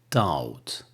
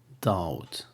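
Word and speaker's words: dumb: the known comb comb the B is not pronounced in this word the same thing with Daud Daud another example of they be not being pronounced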